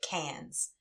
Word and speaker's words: Cairns: But anyway, so we went to Cairns, Australia, which I learned it's written Cairns, but you say it Cans.